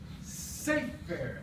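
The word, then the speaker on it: ספר: What creates the class is penultima stress. So this is mele, this is sefer, this is na'ar. And they're always two syllables, just like that.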